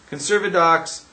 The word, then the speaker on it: Conservadox: Conservadox rhymes with bagel and lox because that's about all the legitimacy that it has.